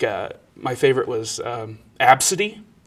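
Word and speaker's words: Abcde: my favorite was um absidy which is spelled AB bcde e uh or uh a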